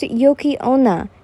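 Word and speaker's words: 雪女: a child katro what's a inos asked it's pronounced Yoki Ona inos and it's a female spirit said to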